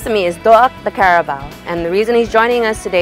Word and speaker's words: Carabao: Tania, in Chamorro, we pronounce the word Carabao, Carabao.